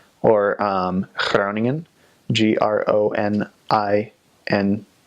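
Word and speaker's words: Groningen: I spell that right clowning in it doesn't have to be hyper pronounced a lot of a lot of new missionaries come out with a really G and that's not the that's very North Holland's and it's not necessarily recommended practice the G ranges from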